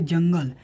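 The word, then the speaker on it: جنگل: यहाँ पर जो हे के ऊपर जो आप बिंदी देख रहे हैं वह खे प्रोनाउंस करेगा, लेकिन वह थोड़ा सा अंदर रहेगा, यानी कि उसके बाद जो नून है उसमें रहेगा। ठीक है, जंगल।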